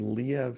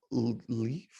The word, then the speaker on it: Liev: Liev Schreiber is not pronounced that. It's Leaf or something. But he said that when he started, people just mispronounced it so much that he just let it go.